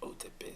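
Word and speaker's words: Otepää: Everybody pronounces it Otepaa, so I guess that's how you pronounce the double A.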